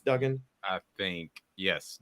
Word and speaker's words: Duggan: and Max is it Duggan is how you pronounce his name right not Dugan It's Duggan I think yes Duggan that's where the Bryce young and Max Duggan